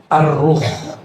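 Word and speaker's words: الروح: Sekarang masuk ke istilah kedua yaitu arruh. Bukan roh ya. Arruh. Kalau roh apalagi tuh ya bacanya arwah. Pakai alif lam.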